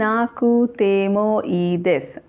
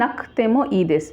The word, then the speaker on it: なくてもいいです: নাকতেমো ই দেস লিখছি নাকুতেমো ই দেস, উচ্চারণ হচ্ছে নাকতেমো ই দেস, অর্থাৎ কুয়ের উচ্চারণটা কের উচ্চারণ হয়ে যাচ্ছে, কয়ের উচ্চারণ হচ্ছে নাকতেমো ই দেস।